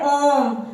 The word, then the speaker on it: ओम: जैसे कि हम बोलते हैं ओम, तो ओम में ज्यादा समय का उच्चारण लगता है, तो इसकी मात्रा जो होती है इस तरीके से होती है, ई की तरह लिखा जाता है।